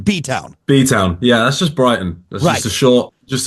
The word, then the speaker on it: Brighton: this uh uh uh bright and it's Brighton that's the proper way to say it right Brighton Sussex right